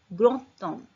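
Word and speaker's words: grand homme: तो उसमें लियाजो होगा, तो अब इसका प्रोनाउंसिएशन कैसे चेंज हो जाएगा, ग्रोतोम। डी किस में चेंज हो गया, टी में, ग्रोतोम, ग्रोतोम मीन्स ग्रेट मैन।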